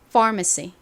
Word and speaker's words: pharmacy: PH는 F처럼 소리가 나죠. 좀 세게 이렇게 발음됩니다. 따라해 보세요. Pharmacy 다시 해 볼게요.이 far 부분에 강세가 있습니다.